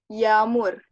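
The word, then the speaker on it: yağmur: Contoh lain ada yamur. Yamur. Yamur itu ada Y, A, yumusak G, me, U, re. Yamur.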